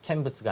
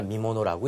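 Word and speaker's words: 見物: 이번 누구와 누구와의 대결의 결승전은 상당한 미모노라고 할 때는 캔부츠가 아니라 미모노라고 읽겠다라는 거 정리해 두시고요.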